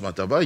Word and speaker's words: mataba: h mataba c'est pas Matamba Matamba non Matamba c'est pas Matamba mataba c'est autre chose et ça se prononce mataba il faut il faut prononcer ça comme ça il y a pas